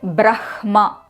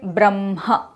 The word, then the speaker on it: Brahma: Say brahma. You will find that the hakara is coming from the kaNThya portion. I can clearly see a kind of constriction happening there when I say brahma. So when we say brahma the hakara becomes kaNthya. But the shiksha shastra says it should be urasya when ha joins with the nasal sounds. Now say bramha. I can clearly see the hakara coming from the chest.